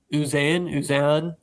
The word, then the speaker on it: Uzan: Uzan. I thought it was Uzman. Uzan. There's no M.